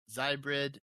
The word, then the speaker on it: Xybrid: It's called Zybrid. That's spelled XYBRID.